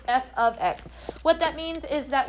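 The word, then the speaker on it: f(x): a lot of those how do you say that does anyone know how to say that f of x fabulous yes f of x so don't say f x don't say f times x it's f of x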